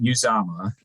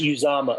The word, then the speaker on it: Uzoma: I believe it is Felix Anudike Uzoma. Is Uzoma, okay. I believe that's how his parents pronounce his name.